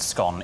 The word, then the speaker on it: scone: We actually would pronounce it scone because once it's gone, it's gone.